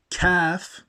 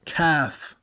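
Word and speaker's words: كاف: throat off cough now calf is pronounced from the top of the mouth when we say calf like karate or like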